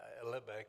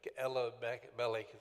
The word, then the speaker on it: Elimelech: Yeah, we usually pronounce it Elimelech, but it's Elimelech.